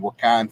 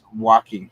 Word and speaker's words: Joaquin: to say his name wakan Phoenix um oh Joaquin Phoenix walking that's it uh walking it's like saying walking walking yeah so walking Phoenix